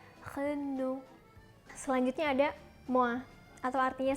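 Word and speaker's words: Renault: yang cukup terkenal dan aku masih sering dengar Orang nyebut dengan renouw winnow bukan yang bener itu pengucapannya dalam bahasa Perancis adalah cleno selanjutnya ada woah atau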